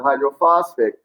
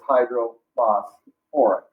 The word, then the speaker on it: hydrophosphoric: Now, it's not hydrophosphic, because any acid that contains phosphorus has an OR syllable before the ic ending. So it's hydrophosphoric acid.